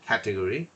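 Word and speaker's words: category: ক্যাটাগরি, ক্যাটা উচ্চারণ করলে এ হয়ে যাবে কিন্তু, হ্যাঁ, ক্যাটাগরি।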